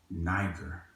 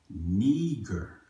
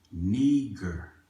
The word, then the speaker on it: Niger: thought at the time i thought it was niker i've always been told that that's how you pronounce that night or this word right here